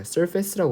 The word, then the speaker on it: surface: 참고로 제가 아까 발음 미스를 했는데 이 surface에서 a를 발음하지 않습니다. surface라고 그냥 발음하는 경우가 많아요.